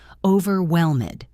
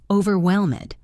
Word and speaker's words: overwhelmed: For example, in the word overwhelmed, the stress is on the third syllable. Overwhelmed. Try saying it. Overwhelmed.